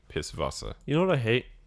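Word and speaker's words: Pißwasser: that's the joke actually they pronounce their w's like these so it'd be piss vasa you know what i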